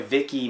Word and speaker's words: Viki: were said they enjoy Viki more I'm pretty sure Vicky's way to pronounce it VI ki because with Vicki they